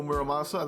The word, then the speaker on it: Muramasa: I guess you call your a boar Oh Muramasa that's how you say it in Japan that's